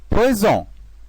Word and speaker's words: poison: Et aussi, la lettre S entre deux voyelles. Par exemple, poison, poison.